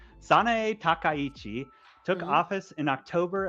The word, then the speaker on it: Sanae Takaichi: Sana Takanichi, or Sanae can't even pronounce the name. Sanae Takaichi took Mhm.